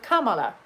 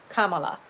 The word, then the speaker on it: Kamala: vice presidential pick formally, and he went with Kamala. I said, "Oh, now that this other guy taught me how the name is pronounced by correcting this fool, now I actually